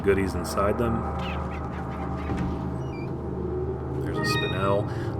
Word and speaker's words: spinel: There's a spinel. I don't know if that's the correct way to pronounce that. I actually like to say spinal, even though I'm pretty sure that's wrong.